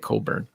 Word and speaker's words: Cockburn: burn that's a canadian because there's a guy called bruce cole cockburn but it's he pronounces it coburn sorry yeah it was